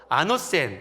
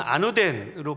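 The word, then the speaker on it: ἄνωθεν: 말 거듭이라는 말은 부사인데요 이것은 헬라어로 아너센 또는 아노덴으로 발음하는 단어입니다이 거듭나다이 거듭 그리고 나다라는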